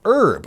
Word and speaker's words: herb: the oxford english dictionary you brits said herb with a silent h right up until sometime